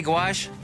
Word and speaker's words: gouache: How do you say gouache? Gouache. Gouash.